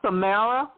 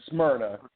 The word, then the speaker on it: Smyrna: the Atlanta fireboard Center in Samra did I pronounce it right the Samra location Georgia we're at um we're in uh West Atlanta in in Smyrna um it's it's uh